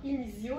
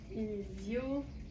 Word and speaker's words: Inizio: Dans Inizio, là, si vous allez faire une recherche en utilisant la petite loupe, Inizio, ça s'écrit I-N-I-Z-I-O. Fait que, grosso modo, presque comme ça se prononce.